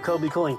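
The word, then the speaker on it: Kobie Cooling: It's Fred Kobe with your Kobe Cooling tip of the day. Kobe Cooling has been around a very long time. It's spelled kind of funny, too.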